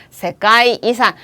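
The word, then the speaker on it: 世界遺産: 세계이산. 유산이라는 건 항상 이산이라고 발음하니까 자연유산이라는 거는 시젠이산 이렇게 하죠.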